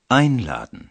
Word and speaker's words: einladen: উচ্চারণের সময় উপসর্গের ওপর জোর দেওয়া হচ্ছে, কারণ এটি একটি বিশেষ অর্থ প্রকাশ করছে। Einladen.